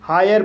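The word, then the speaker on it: hire: एच को हा पढ़ा जाएगा। आई को आई अ पढ़ा जाएगा। आर को रा पढ़ा जाएगा। और इ साइलेंट रहेगा। इस तरह से इसे हायर पढ़ेंगे। और हायर मीन्स भाड़े पर।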